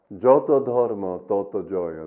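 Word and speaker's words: যতো ধর্ম ততো জয়: And the other one is, Joto dharma, toto joyo. That's the Bengali pronunciation.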